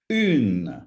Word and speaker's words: une: The next one is une, which is the feminine of un. But the difference is here, you've got an U sound at the beginning. Une, une, une. Compare this with un.